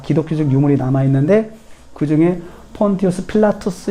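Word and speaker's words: Pontius Pilatus: 빌라도 라는 점입니다 그래서 로마인들의 발음의 는 폰투스 필라 투 스 라고 합니다 폰투스 필라투스 라고 하는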